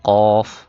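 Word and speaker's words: ق: ফা ফা এরপর হল কফ মোটা করে কফ কফ কাফ কাফ কাফ লাম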